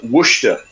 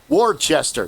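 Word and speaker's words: Worcester: It's like uh Wooa in Massachusetts is spelled Warchester. Yeah. If you heard that, you would spell it a certain way. But when you say Warchester, no wor.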